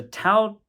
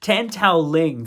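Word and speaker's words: Tan Tao-liang: big fans of those other films there's a Tau uh tan sorry I keep saying his name wrong tan Tao Ling 30 minute long well it's like about it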